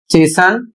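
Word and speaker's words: chasten: इसमें कह रहा है कुछ कॉमन स्टैंडर्ड वर्ड्स में टी साइलेंट रहता है।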